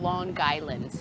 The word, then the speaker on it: Long Island: long island ice cream you say it like lawn lawn guy land gy that's how we say it it's loan island so cliff sit down